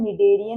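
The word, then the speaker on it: Schneiderian: नाम दिया हुआ है निडेरियन मेम्ब्रेन। ठीक है, SCH जो है दिस इज साइलेंट और हम इसे बुलाते हैं निडेरियन membrane and इट is responsible for the perception of smell.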